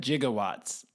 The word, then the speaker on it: gigawatts: can see Christopher L he pronounces it jigawatts in the movie yeah you give up is it like 98 I don't know no what is it 1.21 gigawatts oh yeah I wouldn't